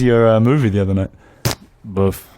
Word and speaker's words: bof: movie the other night buff okay buff am I getting the pronunciation you're getting it and you I can see the like the shrug of the shoulders as well do you put your lip out as well bof you can and then